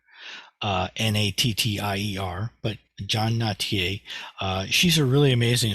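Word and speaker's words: Nattier: her name is pronounced notier I I would being being from the Midwest I would pronounce it nadir uh n-a-t-t-i-e-r but John notier uh she's a really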